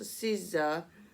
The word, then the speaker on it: SZA: Her name is pronounced SZA, according to the なるほど、experts at Babel, and the first name of the Irish actor Cillian Murphy is pronounced Kilean.